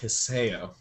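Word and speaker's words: Hisao: character i found him his name is pronounced hisseo okay i know is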